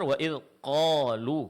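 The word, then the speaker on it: وإذ قالوا: Seperti kalu waid kalu yang benar. Waidqolu di sini hurufnya ditebalkan dan tidak mengeluarkan angin.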